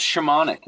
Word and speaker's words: Szymanek: The longest and hardest thing I've given my wife is a great Polish last name. So, it's uh yeah, it's shamanic.